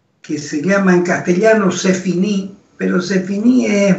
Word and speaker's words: c'est fini: Y él usó esa expresión francesa, c'est fini, escribiéndola en castellano S-E-F-I-N-I, acento en la última.